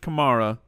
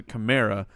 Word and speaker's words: Kamara: is from Alvin Kamara who says his mom pronounced it Kamara but he has chosen to pronounce a chimera I don't understand why you would change the